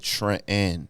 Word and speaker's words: Trenton: I say, "Uh, now I pronounce it Trent N." you know, I don't pronounce that second T cuz, you know, I just don't think it doesn't feel like a black name to me.